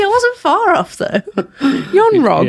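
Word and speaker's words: Yon-Rogg: Yon Rog. Yes, anyone with 2 syllables. Yon Rog. That was like Young Rug.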